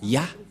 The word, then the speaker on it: Yah: Ça se prononce Ya.